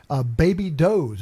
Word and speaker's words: Baby Doe's: and she goes, "Oh, Baby Does." And then my sister and I cracked up. We go, "No, it's Baby Doe's."